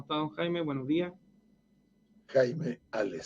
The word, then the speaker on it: Jaime Hales: Jaime Ales, sí. No me pronuncie el H.